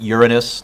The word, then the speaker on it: Uranus: planets Jupiter Saturn by the way it is pronounced Uranus not the way of you want to say